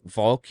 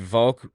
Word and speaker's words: Volk: And the word for like people is Volk in German. I think it's pronounced like folk, F-O-L-K, but it's spelled V-O-L-K.